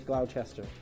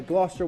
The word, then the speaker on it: Gloucester: You've got Glouester there as well, which I used to pronounce Glowchester. Uh Glouester, well done.